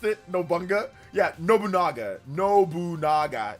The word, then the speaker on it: Nobunaga: But don't say it fast. Don't say any Japanese names fast. Just pronounce it by every 2 letters, usually 2 or 3 letters at a time.